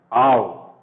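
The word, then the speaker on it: אב: There is no sound here. Here is a line A, and here is sound V. Ow. Okay? Ow. Ow. This is the pronunciation of this word.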